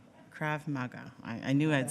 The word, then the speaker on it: Krav Maga: Outside of work, he enjoys practising, I'm going to say this wrong, Krav Maga. - Krav Maga. - Krav Maga.